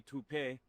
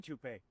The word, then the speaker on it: taupe: Uh maybe toup pay. Could be toupe. Yeah, I don't know. Or toe insurance. Maybe. I don't think so. Say it right. That's t o p. That's taupe.